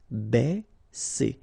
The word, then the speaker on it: baisser: Ba, okay, because A and E together will produce the sound E. Baisser, baisser.